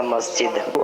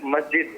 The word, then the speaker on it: مسجد: و غریب انداز میں درست تلفظ کیا ہے؟ میرے خیال میں مسجد ہے. مسجد مسجد جی مسجد. اچھا اب اس میں زیادہ وہ قلقلہ بھی نہیں کرنا اور جماع بھی نہیں کرنا.